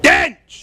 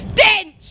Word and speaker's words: Dench: Dench. You can't say it like that. You got to say it properly. Dinch.